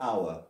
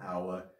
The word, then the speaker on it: hour: And let's one more, hour. It's also a very often used one. And that one, the H is silent as well.